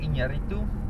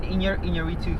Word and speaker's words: Iñárritu: Iñárritu for The Revenant. You had to say it like that. Yeah, that's how you pronounce Hispanic name.